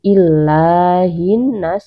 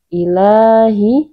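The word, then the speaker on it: إِلَٰهِ: Tidak ditekan bukan illahin nas ya. Bukan illa. Kalau bacanya illa itu berarti ini begini. Nah, ya ada tasydid ya bukan ya bukan di ditekan bukan menjadi illa. Kalau illa itu ada ada tasydid tapi ini tidak ada tasdid maka cara membacanya di dipanjangkan saja dua rakaat tanpa ditekankan.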